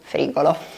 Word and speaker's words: frigo: stava descrivendo la cucina, anziché dire frigo, lui mi disse frigolo. E questa cosa, mamma mia, ricordo, ero con una collega, ci mettemmo a ridere veramente tanto. Comunque si dice frigo, mi raccomando, non frigolo.